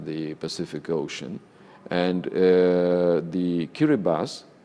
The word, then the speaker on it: Kiribati: Pacific Ocean and the key Reba's is the local pronunciation of the name of Gilberts I mean mr.